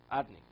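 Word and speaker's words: אדני: What's the pronunciation of yud kei vav kei? As if it would be spelled Aleph Daled Nun Yud Adni.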